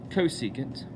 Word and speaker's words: cosecant: so the three are cosecant of our reference angle which we abbreviate CSC but still say cosecant this is the reciprocal